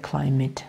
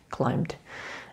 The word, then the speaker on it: climbed: So we don't pronounce it climate. How do you pronounce it? Climbed.